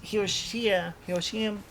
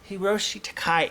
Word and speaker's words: Hiroshi Takai: who makes statements and if i'm saying his name right is hiroshiya yoshim i think it was um hiroshi takai hiroshi takai is correct yes i may have